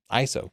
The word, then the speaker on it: ISO: ISO pronounces their name ISO like I'm saying it they don't spell out the letters ISO check out their official